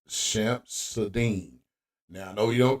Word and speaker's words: Shamsud-Din: lot of you guys think his name is some some Sudan uh Jabar but it's it's pronounced shamp sadine now I know you don't care but uh